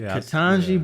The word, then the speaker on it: Ketanji: I want to say congratulations to Ketanji. Is that how you pronounce it? Yeah, Ketanji Brown Jackson.